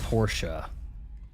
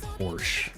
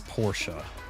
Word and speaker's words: Porsche: It is pronounced Porsche. 99% of Americans, even the dealers, will call it Porsche. It is Porsche.